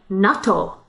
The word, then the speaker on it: natto: natto we're talking about natto which is nato in japanese oh the difference in pronunciation i could hardly even tell nato versus natto one has a double d so you were saying